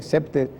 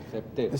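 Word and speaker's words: CPTED: una metodología que tiene una sigla impronunciable CP t e d e septe septe septe la crime prevention through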